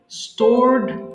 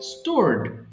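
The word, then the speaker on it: stored: স্টোর মজুদ রাখা স্টোর স্টোরড স্টোরেড এখানে একটা উচ্চারণে কমন মিস্টেক অনেকে ভুল করে স্টোরেড বলে ফেলে এখানে স্টোরেড হবে না কিন্তু হবে স্টোরড স্টোরড স্টার্ট আরম্ভ করা বা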